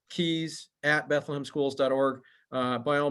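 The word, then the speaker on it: Kies: help you and then len keys and his his name is not spelled like it sounds uh len's last name is k-i-e-s uh and i'm gonna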